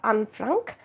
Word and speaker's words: Anne Frank: name ante uh because it is a proper noun pronounced she's a Dutch girl kabati uh I I pronounce it as unfrank and from the diary